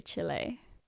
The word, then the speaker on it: Chile: to say it right I'm not going to say chili I'm gonna say Chile sorry he was working